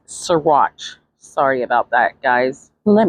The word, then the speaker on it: Saguache: Anyways, as usual, I mispronounced some of these counties, so it's Saguache.